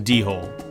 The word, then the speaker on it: dhole: yes the do the dhole the do hole the do hole so yeah you got to put some aspiration on that D because it's spelled d h o l e just the word hole